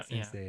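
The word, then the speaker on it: 先生: I think there's still a subtle E sound. You feel like there's an E sound there? Yeah, Sensei. Sensei. Yeah, it's like a short E at the end.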